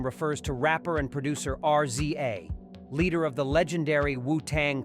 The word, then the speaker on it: RZA: research something real quick okay apparently the name is spelled r Za a but it's pronounced RZA so let me introduce you to RZA one